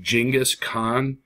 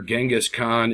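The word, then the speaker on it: Genghis Khan: see on the screen right here it's actually pronounced jingus Khan and while you will hear genas Khan and see it most often with the G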